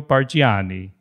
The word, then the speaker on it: Bargiani: And don't forget the smile, Ago Perrone and Giorgio Bargiani.